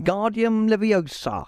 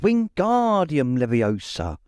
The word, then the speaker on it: Wingardium Leviosa: much more luck when guardian levio he shouted waving his long arms like a windmill you're saying it wrong Harry heard hermani snap it's Wing guardium Leviosa make the G nice and long you do it then